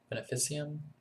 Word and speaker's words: veneficium: so expensive um called the ven ven can't pronounce this word it's really hard Venum veneficium it's V NE fi C IU M and